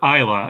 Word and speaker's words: Isla: week if it was Elsa or or Isa and I I Googled her this morning and it it is ISA Fisher I okay so the S is silent oh boy all right